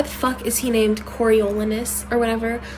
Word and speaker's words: Coriolanus: Like, that's just Coriolanus. Coriolanus. That's 5 fucking syllables for a name.